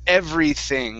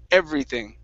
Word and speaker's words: everything: with the T yeah make sure you're pronouncing a th instead of an F okay you don't want to say everything it's everything with the th with your tongue between your teeth try that everything okay